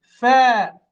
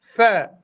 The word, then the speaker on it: فاء: فاء نطقه قريب من حرف الثاء، هذا ثاء، هذا نخرج اللسان فيكون ثاء، هذا لا نخرج اللسان نقول فاء فاء فاء فاء. الهواء يخرج بضم الشفتين مع بعضهما البعض فأقول فاء.